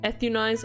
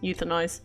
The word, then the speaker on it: euthanize: in her about me euthanize am I saying it correctly euthanize ethun oh I probably was saying ethun whoops euthanize thank you English is hard okay